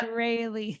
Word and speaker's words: Strahle: Pronounced like daily. Yep. Strahle. That's a perfect.